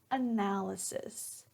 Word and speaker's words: analysis: The pronunciation for the noun is analysis.